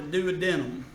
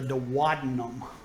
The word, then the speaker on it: duodenum: And it's not the duodenum. I know that's what how it's spelled and what it looks like. The duodenum is part of the small intestine, but it's actually pronounced the duodenum, okay?